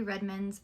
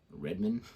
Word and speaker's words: Redmayne: Jennifer Lawrence shocked by Eddie Redmayne's early model photos. Say Redmayne? Redmayne? Yeah. Oh, I don't know his last name. Sorry, Redmayne. Redmayne?